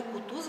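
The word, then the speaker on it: Кутузов: безупречен его французский язык даже имя кутуз он произносит с ударением на последнем слоге Как французы как Француз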